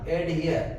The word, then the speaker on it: adhere: हा का भी इसमें प्रोनाउंसिएशन होता है, एडियर नहीं बोलना, एडहियर।